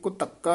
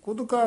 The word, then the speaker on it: ਕੁਤੱਕਾ: कई पाठी सिंह कुदका कह देंगे ने, जेड़ा बिल्कुल ही गलत है। इस करके नतर पोला बोलना है, कुतक्का कक्के दे विच डैश दे के कस के बोलना है।